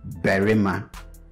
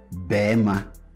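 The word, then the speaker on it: barima: Okay, so I could say berima. Okay, but in natural speech, I am most likely going to go with bema.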